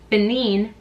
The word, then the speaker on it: Benin: to thank you to everyone who corrected my pronunciation I read the comments I appreciate that thank you Benin and Togo 25% um basically the range that